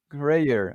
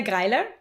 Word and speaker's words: Greiler: my friend Dr Michaela grer I I can't I said it wrong can you pronounce it right for us yeah so my name is Mela gerer and because it's very